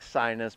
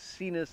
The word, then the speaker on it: Sinus: artistically written here but it's like sinus but that's not how we say it so it's seen us is the way it's pronounced and this is a